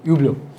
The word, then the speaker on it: Hublot: हुब्लो, जिसको लोग हबलॉट कहते हैं, लेकिन इसकी करेक्ट प्रोनाउंसिएशन इज हुब्लो। एच भी नहीं है, हुब्लो या ह्यूब्लो।